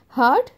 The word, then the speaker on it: heart: Spelling style जो है same है, ठीक है ना. HEART हार्ड, BEARD बियर्ड, HEARD हर्ड, ठीक है. लेकिन प्रोनाउंसिएशन इज क्वाइट डिफरेंट. जो बोलने का स्टाइल है वो बहुत ही अलग है, तीनों अलग अलग है.